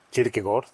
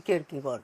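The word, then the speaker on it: Kierkegaard: ¿Cómo se pronuncia correctamente Ricardo Kirkegar? Kirkegor. Ajá. O sea, Soren Kirkegor.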